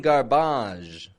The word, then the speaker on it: garbage: word that's been Americanized I'm not saying garbage with a z ending some French words in English do get the Z ending massage or garage but some of them just get the J sound garbage manage damage words that come from French but just get a j so after that generic